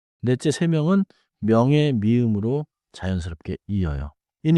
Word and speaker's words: 세 명: 세 명. The counter form is 세 and 명 begins with a soft nasal 미음.